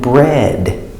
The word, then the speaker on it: bread: But here we have EA, it makes the sound like feather, feather, and bread.